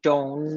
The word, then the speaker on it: don't: You see, it's not I don't like, it's I don't like. You shouldn't pronounce the letter T here.